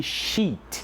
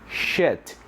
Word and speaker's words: sheet: Então, o que acontece também com os alunos é pronunciar essa palavra shit. Alright? Então é muito diferente, tá? O sheet, então, sendo folha, e o shit aí sendo